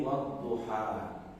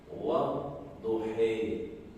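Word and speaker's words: والضحى: Kalau ada alif maksurah seperti ini, sebagian riwayat cara baca dari Nabi SAW boleh dibaca imalah, mirip dengan huruf E, wadduhe.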